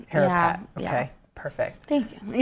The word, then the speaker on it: Harapat: And did I pronounce the last name right? HARAPAT. HARAPAT, okay, yeah.